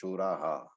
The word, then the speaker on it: शूराः: Now here it is written shura, but you may have noticed that I pronounced shuraha, which means there was a visarga. As I said earlier, visarga takes the pronunciation of the previous syllable, and therefore shura with a visarga becomes shuraha.